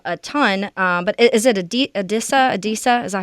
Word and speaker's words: Adisa: But is it Adisa? Is that how you say it? Yeah, Adisa Isaac.